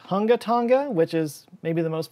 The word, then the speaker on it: Hunga Tonga: was it just not large enough actually it's pronounced hunga tonga which is maybe the most fun to pronounce name i've ever come across in my life so i'm never going to stop saying it actually it's hungatanga hunga bye right hungatanga right but but there's